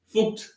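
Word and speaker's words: fucked: do you say that Irish people say f u c k e d fooked no one says that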